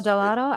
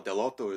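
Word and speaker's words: Dell'Otto: he's the painter and gabrielle delatto i thought it was gelato i've been saying it wrong my whole life i mean yeah the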